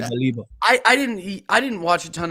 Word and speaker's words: Baleba: Is it Balíba or Baleba? People say both, either or. Until he comes out and says, "Hey, this is how you say my name." Pick which I say Balíba.